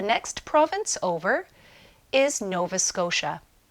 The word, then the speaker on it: Scotia: The next province over is Nova Scotia. The T in Scotia sounds like sh. Novas Scotia.